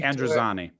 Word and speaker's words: Androzani: sarcastically, it was the caves of, I can't pronounce it, caves of, can you? Androzani.